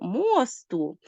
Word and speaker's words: мосту: мосту здавалось би чому мосту знову ж таки міст розрізняємо його за наголосом побачили що можна сказати моста якщо це значення пряме і мосту якщо наголос падає на о і має образне переносне значення адже значення цих слів